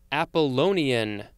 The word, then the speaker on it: Apollonian: All right, next we have Apollonian. Ah, that's how you pronounce that word.